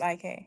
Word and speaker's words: Ike: Uh, you had a question. I hope I pronounced your name right. Oh, muted. Hi, Ike. My name's Ike.